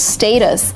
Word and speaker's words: status: of really really conservative the actual pronunciation is status and again you can continue saying status but if it's the time when you decide how to pronounce the word status it's kind of more academic process status it's not American pronunciation and status is not more correct and it's not more AC mic in American English we say status not status and just because you